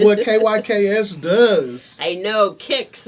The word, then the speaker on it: KYKS: kyks does i know kix is pronouncing kicks keeping your kids safe so what we do